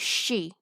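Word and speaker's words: 死: number in japan however the pronunciation for the word death is she and it's also the same pronunciation for the letter four so in japan you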